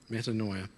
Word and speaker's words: metanoia: what Jesus actually said Jesus uses the word metanoia am I pronouncing that right yep metanoia which is actually a combination